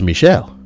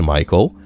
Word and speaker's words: Michael: that it was pronounced Michelle. Mom, bemused, said something along the lines of, "It's literally a name from the Bible. It's pronounced Michael and has been for thousands of years."